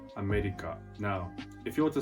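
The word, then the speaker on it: アメリカ: For example, the word America. In Japanese, it's pronounced America.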